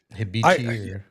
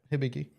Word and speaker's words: Hibiki: I think it's Hibiki or something like that. Hibichi. Yeah, I can't pronounce what shit. So, whatever. I'm going to look it up. Yeah, Hibiki. All right. Hibiki.